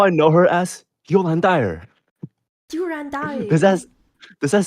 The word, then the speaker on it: Durandal: I think it was like the first few interaction between Durando and Kiana.